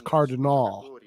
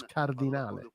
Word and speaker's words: Cardinale: Ora qui so che siamo It's like cardinale, that's how you pronounce it, but in the US it's cardinal. Yeah, Jerry Cardinal. No, it's cardinale.